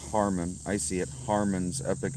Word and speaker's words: Harmon: I mean, that's usually that's kind of what I'm doing in long form, Herman. That's actually pronounced Harmon.